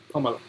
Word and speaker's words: Kamala: She said that it said like the punctuation mark comma, and then la. Kamala.